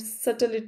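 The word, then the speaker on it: subtle: बारीक अंतर रिफाइन मेंट सटल सटल सटल में बी साइलेंट होता है ध्यान रखिएगा अनाउंस करते वक्त ठीक है न्यू आंस बिल्कुल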